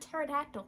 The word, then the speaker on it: pterodactyl: Like the word pterodactyl. There's a P in front of that.